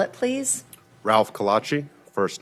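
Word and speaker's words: Calatchi: everything sir will you say your name and spell it please Ralph Kachi first name r a l p last name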